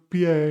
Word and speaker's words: pie: see it written here, you may be tempted to think that it's pie in English, but no, the sound is very different and the meaning is too.